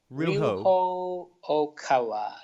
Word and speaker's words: Ryuho Okawa: How do you pronounce it? Ryuho Okawa.